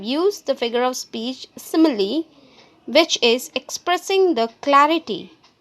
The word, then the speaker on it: simile: let us pronounce again it's not smile it's simile what is simile it